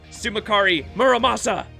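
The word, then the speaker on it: Tsumukari Muramasa: my tomb to some oh the t is silent sumakari muramasa yeah the emiya theme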